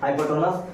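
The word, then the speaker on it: hypotenuse: आपको कर्ण को h से डिनोट किया जाएगा कभी नहीं, हमेशा नहीं, ताकि इसका अंग्रेजी बोलते हैं, इसका उच्चारण करते हैं हाइपोटेनस, उसका पहला लेटर हो गया।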